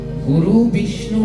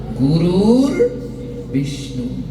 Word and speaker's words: গুরুর বিষ্ণু: গুরু বিষ্ণু না গুরুর বিষ্ণু।